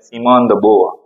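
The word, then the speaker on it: Simone de Beauvoir: ये नाम जो लिखा हुआ है थोड़ा सा जो है उसका प्रोनाउंसिएशन सही नहीं है, सिमोन द बोआ, इसको क्या पढ़ते हैं? सिमोन द बोआ।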